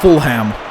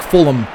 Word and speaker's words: Fulham: I guess it's not full ham it's like Fulham that's how you say it properly I think I think the H is silent it's not a full